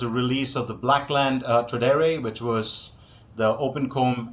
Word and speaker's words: Tradere: The Blackland Tradere, that's how it's pronounced.